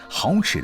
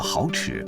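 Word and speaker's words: 蚝豉: 蚝豉的广府话发音接近好事，是家家户户过年必备的调味食品。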